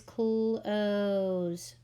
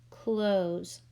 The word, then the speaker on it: close: We have E at the end of a word, which is silent, and it makes the vowel before it long, so it's going to sound like O.